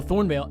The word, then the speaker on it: Thornvale: So this is set in a fictional kingdom called Thornvale, which is spelled Thornvale. I wanted to put that E in there because it makes it sound a little bit more sophisticated, I think.